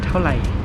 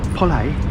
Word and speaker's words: เท่าไหร่: เท่าไหร่ เท่าไหร่ เท่าไหร่ เท่าไหร่ Say it again.